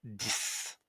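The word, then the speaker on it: dix: Pour les pour les nombres, le x va se transformer en s. Donc on va dire 10. Donc ça, il faut le retenir, il faut la prendre par cœur. Donc pour le nombre 10, le X se prononcera S 10.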